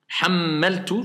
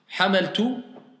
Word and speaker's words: حملت: حملت حملت عفوا حملت Hammaltu, vous avez vu, hein? Hammaltu, parce que ça change tout le sens de la phrase. Hamaltu, non, hammaltu, c'est moi. Hammaltu, d'accord? Hammaltu, une shidda, hein, vas-y.